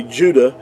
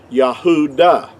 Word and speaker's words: Judah: Now in our English we say Judah which is totally inaccurate because there's no J sound in ancient Hebrew but the word uh Judah in our English word would be uh would be accurately would have been pronounced Yahudah.